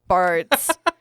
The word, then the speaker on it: Bartz: But I finished a book called The Writing Retreat by Julia M. Brass, I believe is how you say it. Oh no, I don't know where I came up with the M. It's just Julia Bartz.